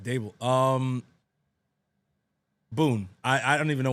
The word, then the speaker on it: Daboll: Daboll? You said it right, Dable.